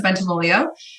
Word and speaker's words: Bentivoglio: Okay, so you pronounced my name correctly. So it's Bentivoglio.